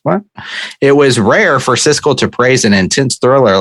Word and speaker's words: Siskel: famed film critics oh cisco and wait how's that oh god damn he's going out ebert no is it how is the first one pronounced siskel siskel yeah yeah yeah split on